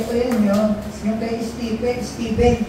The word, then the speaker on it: Stephen: Yung kay Stephen. Ang pronunciation yan, Stephen. Di po yan Stephen.